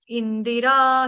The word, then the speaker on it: इन्दिरा: श्रयत इंदिरा शश्वदत्त ऐसे नहीं कोई गाएगा। तो कैसे गाएंगे? श्रयत इंदरा देखो इंदिरा के साथ भी द के साथ छोटी इ की मात्रा।